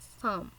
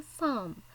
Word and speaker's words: psalm: Look at the word psalm. Actually, this is a five-letter word, but you have to pronounce like a psalm. Here, P and L are silent, so you have to pronounce psalm.